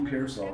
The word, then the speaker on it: Pearsall: How do you pronounce his name? Ricky Pearsall? Ricky Pearsall.